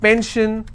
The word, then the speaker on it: pension: If I have pension, I will stress on pen.